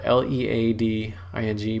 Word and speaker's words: leading: and that's it's spelled l-e-a-d-i-n-g but it's pronounced leading and that's referring to back in the old days when they had actually put pieces of lead between rows of text and that would spread